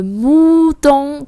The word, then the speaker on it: mouton: Le mouton. Ton. Mình hơi co môi dưới vào.